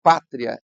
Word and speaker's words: pátria: Na palavra pátria, essa letra A é a vogal tônica.